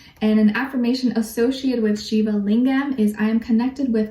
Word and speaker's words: Shiva Lingam: Okay, your crystal at this time, or for this next little while, is Shiva Lingam. So it's spelled S-H-I-V-A and then Lingam, Shiva Lingam, and it's associated with the root and sacral chakra.